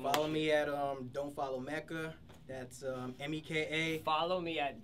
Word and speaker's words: Meka: And it's Meka. It's spelled M-E-K-A, but it's Meka.